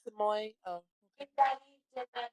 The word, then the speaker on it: Samui: Oh, it's Samoy.